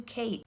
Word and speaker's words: Khaite: Coach Leather and into Khaite. And if you're wondering, this designer, spelled like this, yes, it's pronounced Kate.